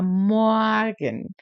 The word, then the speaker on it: Morgen: A pronúncia desse R é bem diferente. Parece um A meio aberto, né? Um R misturado com A. Morgen.